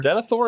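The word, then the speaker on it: Denethor: And so what is important about that is do I have this guy's name right? Denithor. Denithor is correct.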